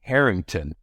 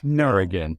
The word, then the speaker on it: Harrigan: The title page said Stephen Harrington, not Harrigan.